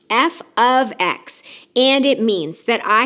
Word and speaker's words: f(x): even if it looks like it it is pronounced F ofx and it means that I have a function